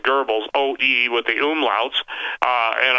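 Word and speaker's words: Goebbels: this that gurbles or some people pronounce like Devils but I pronounce it gurbles OD with the umlauts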